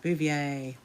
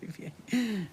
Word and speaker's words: Bouvier: Blanche is pronounced Bouvier. Oh, thank you so much, Becky. It's pronounced Bouvier.